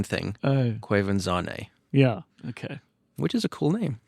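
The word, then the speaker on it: Quvenzhané: Wikipedia it is oh is that the the pronunciation thing quanan yeah okay which is a cool name it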